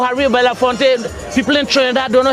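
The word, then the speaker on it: Harry Belafonte: When Americans say about Calypso, they always say harafonte. No, Harry Bellafonte.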